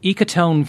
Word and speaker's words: ecotone: There's also one I'm not quite familiar with, ecotone forestry.